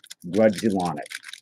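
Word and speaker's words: Grudzielanek: And Mark Grodzeliak. I think that's how you pronounce his name. Yeah, the Andy's cool. So, D, in case you vanish again, Grudzielonic. That's Grudzielonic.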